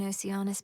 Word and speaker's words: Oceanus: You might like it down in Oceanus better than I do right now. It's Oceanus, okay. Now I know how to pronounce it.